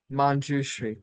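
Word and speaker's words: Manjushri: Can someone pronounce that for me? Mushouchri. Mjushri.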